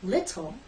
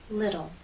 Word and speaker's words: little: And you've probably noticed that Americans do not say little, we say little.